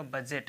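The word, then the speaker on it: budget: हिंदी होता है तो इसमें दी नहीं पढ़ा जाएगा बजट ऐसे पढ़ा जाएगा इसको फिर इसमें अगला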